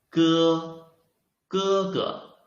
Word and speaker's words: 哥: 声母 is 歌，韵母 is 声调 the tone is this is the first tone, right? Okay, let's try to put them together and read it. 歌，歌，歌 It means brother. 哥，哥哥 brother, older brother.